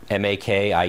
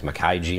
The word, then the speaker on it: Makiej: see on the website my name is Mak I EJ and people pronounce at all different ways Makai G McKee gmarket Joshi heard them all different variations but basically it's just Maki so silent chain is polish ah well what more